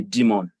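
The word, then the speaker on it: daemon: it can also be referred to as a demon now demand is spelled d-a-e-m-o-n so once you hear demon once yes service once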